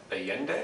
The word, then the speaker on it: Allende: So let's move on to Allende, is that the pronunciation?